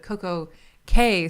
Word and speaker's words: Coco Cay: So Castaway Cay, C-A-Y is pronounced Key, but Coco Cay, C-A-Y is pronounced K, because they call it the perfect day at Coco Cay to like rhyme.